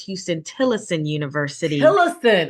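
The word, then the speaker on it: Huston–Tillotson University: graduates that are on the call so the pronunciation is Houston tillison University ah and that's in um Austin Texas the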